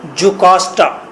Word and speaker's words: Jocasta: लियास के स्पेलिंग हैं LAIUS, लियास। यहाँ पर क्वीन है, क्वीन जुकास्टा, उसके नीचे लिखेंगे क्वीन जुकास्टा, JOCASTA, जुकास्टा।